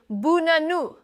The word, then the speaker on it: banana: The word banana is actually buh-nah-nuh. Schwa, stress, schwa.